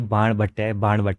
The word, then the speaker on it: बाणभट्ट: मैंने उन्हें हिंदी में बता बता के पढ़ाया कि बाणभट्ट है और कुछ नहीं है।